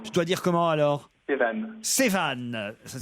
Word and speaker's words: Sévan: J'ai deux auditeurs qui patientent depuis un petit moment, Maude et Sevan ou Sévan, je sais pas comment je dois dire.